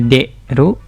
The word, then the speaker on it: 出: Kunyominya deru, demas, deru, atau dasu, dashimas. Onyominya sutsu atau sui.